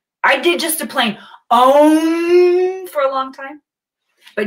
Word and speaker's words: Om: Om, you'll notice that when I pronounce Om, I'll stretch out all 5 of the vowel sounds.